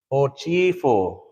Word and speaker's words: hochifo: So hochifo, hochifo, hochifo. Then if we say name, ho-chi-fo. Remember the I makes it not the E sound.